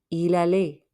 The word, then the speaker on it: il allait: Il allait. Don't pronounce the T at the end.